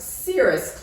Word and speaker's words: cirrus: It gives you an opportunity to talk about cirrus clouds, where the C, instead of saying k, says s, like an S.